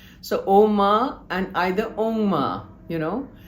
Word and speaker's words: Om: Every chapter begins and ends with the pran you know oma ja this is the kithan that goes on but it is never pronounced as a u m.